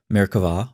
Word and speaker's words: Merkavah: of Jewish mysticism called Merkavah mysticism. Frequently spelled with a B but pronounced with a V, Merkavah, or throne mysticism, refers